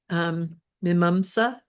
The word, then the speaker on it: Mimamsa: Without this method, how you pronounce this word, Lynn, please? Mimamsa.